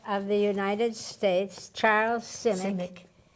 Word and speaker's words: Simic: the poet laureate of the United States Charles Simic how do you pronounce his name Simic civic right what he wrote about you and I'm